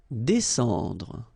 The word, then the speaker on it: descendre: Descendre. Well, even if you've got this combination of S and C here, you just pronounce it S.